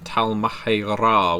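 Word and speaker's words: Tal'Mahe'Ra: I think uh V20 True Black Hand uh the book of the Talmra which is how you're supposed to pronounce it uh was my first writing project for Vampire Masquerade.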